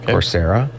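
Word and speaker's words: Coursera: website called corsera and that's spelled c u r s e r a no like the word course yeah corsera um you can learn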